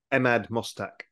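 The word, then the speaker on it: Emad Mostaque: efficiency to um please remind me how to pronounce the gentleman's name that runs stable diffusion I keep forgetting Ahmad mustak Ahmed okay so as emad is saying is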